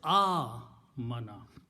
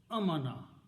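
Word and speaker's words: آمَنَ: And the sound is A-mana. Here this sound is amana, that's peace. But this is amana. Amana means to believe.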